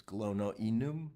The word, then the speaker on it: Glonoinum: If you want to pronounce it the Latin way, it's glonoenum, right?